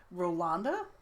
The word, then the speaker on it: Rolanda: Her legal name is Rolanda. Yeah. It used to be spelled with an E, but I changed it to be an A because that's the way you're supposed to say it.